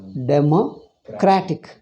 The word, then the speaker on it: democratic: But when you make it adjective, democratic, the stress is on cratic.